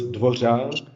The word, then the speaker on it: Dvořák: Yeah, I think the Czech language is in the Guinness World of Records that we have this vowel, the R with a little hook on top, and it's pronounced ř. So it's DVOŘák.